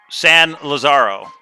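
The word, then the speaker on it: San Lázaro: And just so everybody knows, it is pronounced San Lazaro because Forrest said it's named after Lazarus, the name Lazarus.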